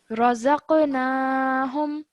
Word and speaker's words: رزقناهم: So that means that because it has a sukoon on it, when you join it to the dha, then you do so with a jerk sound. So you say zaq. زق. رزقناهم.